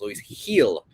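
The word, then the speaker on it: Luis Gil: uh minus 101 there luis heal apparently his name is is pronounced guys louise heal no g in their heel uh that is our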